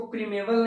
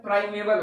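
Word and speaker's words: primeval: Pronunciation करते हैं प्रीमेवल, कई बच्चे पढ़ते हैं इसको, प्रीमेवल नहीं होता है, प्राइमेवल होगा। प्राइमेवल जो है वो प्राइम वर्ड से बना हुआ है, PRIME, प्राइम, जिसका मतलब होता है शुरुआत या फिर प्रथम।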